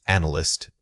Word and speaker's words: analyst: First analyze. Compare it with analyst. The stress moves from the first half to the second.